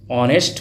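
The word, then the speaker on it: honest: हुआ है व्यंजन से लेकिन इसका उच्चारण किससे हो रहा है हिंदी का उच्चारण देखा जाता है आ से ऑनेस्ट मेन तो जब ये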